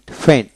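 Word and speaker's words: feign: ক্যাম পি এ আই N campaign তারপর ফ্রেন ফেন এফই আই এন ফেন ফেন ক্যাম্পেন ক্যাম্পেন সি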